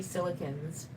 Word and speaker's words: silicones: I like how people in the UK say silicones. They say silicons. Silicons, how they pronounce it.